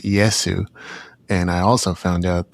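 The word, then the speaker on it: イエス: I looked into this a little bit as well, nowhere near as much as you, but in Japan it's pronounced Iesu.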